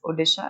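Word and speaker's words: Odisha: Okay, उन्होंने decide किया कि अब हम ये ओडिशा है ना बेटा, इसको ओडिशा बोलते हैं अब. ठीक है, सो द न्यू प्रोनाउंसिएशन और new spelling for ओडिशा इज ओडिशा.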